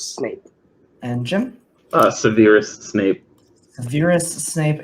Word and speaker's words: Severus Snape: and Jim Severus Snape Severus Snape is the correct pronunciation so Jen will get